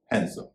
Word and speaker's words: handsome: इसका सही उच्चारण है हैंडसम, यानी इसमें भी डी साइलेंट है।